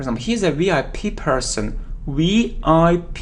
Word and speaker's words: VIP: For example, he's a VIP person, VIP. We pronounce it like 3 separate letters, VIP, VIP.